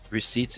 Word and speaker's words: receipts: and it's called proof receipts it's somebody else it's usually the gay offers that use that just saying i know who trusts the word receipts anyway there's like a silent p in there i don't do silent